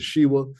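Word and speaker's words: Sheva: It helps to change syllables, help us vocalize the words properly, which is going to be the Shiva. Some may say Shiva, but I say Shiva.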